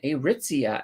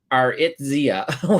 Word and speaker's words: Aritzia: So yeah, that's what my opinion is on Aritzia, and I can now pronounce them. I think I was calling them Aritzia when I was first came into them.